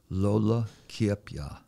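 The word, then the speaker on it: Lola Kiepja: And when we were putting together that film, you told me that the last speaker that was known was named Lola Kiepya.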